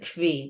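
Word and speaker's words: כוי: By the way, some people pronounce it kvi. There's different ways of pronouncing and knowing, right? Besides that they don't know what kind of animal it is, they don't even know how to pronounce the word. I'm going to go with koi.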